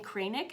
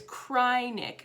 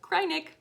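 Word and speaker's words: Kreinik: how to remember it it's cryinic because when you use it it makes you want to cry so if you want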